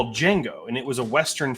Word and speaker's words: Django: And Django's like, "Oh, it's Django." And he's like, "Well, how do you spell it?" And he's like, DJANGO. The D is silent.